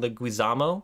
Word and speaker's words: Leguizamo: So the main stars of the Super Mario Brothers movie, the Mario Brothers of the Mario family, are Bob Hoskins and John Leguizamo.